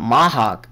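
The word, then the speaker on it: Mach: another spoiler go um Mahaw sorry that's how they pronounce him in Japanese um stays dead in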